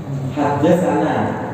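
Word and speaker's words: حدثنا: Tulisannya seperti ini: ha, de, sa, nun, dan kemudian ada alif panjang. Bacanya hadasana.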